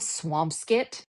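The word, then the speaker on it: Swampscott: but you when you're the way you're supposed to say it is skit. There's a place called swampkit.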